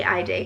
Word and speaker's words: Haydee: You spell it like, it looks like Haydee because it's Haydee, but you say Haydee because it's Greek, and it means modest and discreet.